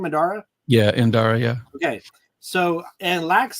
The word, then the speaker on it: Indara: Yeah, Indara, yeah.